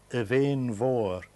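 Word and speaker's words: Beinn Mhòr: The one on the left is Benmore, and in Gaelic it should be pronounced Evain Vor, the big mountain.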